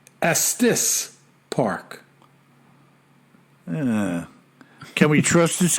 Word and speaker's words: Estes Park: just for your own knowledge Estes Park is pronounced Estes Park yeah can we trust this guy as being